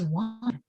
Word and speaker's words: one: word is pronounced was this word should say own like bone or phone instead it says one so let's take a